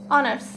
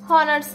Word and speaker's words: honors: তারপরে আসতেছে BBA ইজ অনার্স section, BBA ইজ অনার্স section, অনার্স, হনার্স না, অনার্স, উচ্চারণটা হচ্ছে অনার্স।